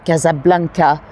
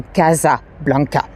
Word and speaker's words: Casablanca: eventually it was renamed Casablanca we pronounce it the French way so although it should